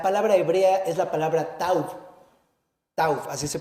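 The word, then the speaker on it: תו: esta señal, la palabra hebrea es la palabra tauv, así se pronuncia.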